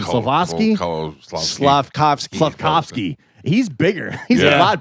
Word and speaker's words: Slavkovsky: Slavkovsky.